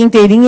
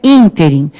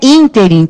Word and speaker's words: ínterim: Porque já sabe que interim é errado, certo? Então é ínterim. Se é ínterim, qual é a sílaba tônica? É o in.